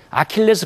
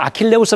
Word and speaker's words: 아킬레스: 최대 약점을 얘기할 때 아킬레스 건이라고 하지 않습니까 그때는 아킬레우스 로 가질 않죠 영어식으로 이제 발음을 하니까 아킬레스 건이다 이러니까 하는데요 저도 아킬레스건이 있죠 예